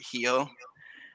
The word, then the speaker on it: Rio: an r like rio everybody says rio but here they pronounce it heal and if you're not